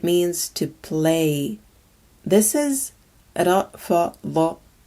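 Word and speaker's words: رفض: This is rafada, rafada, and it means to refuse.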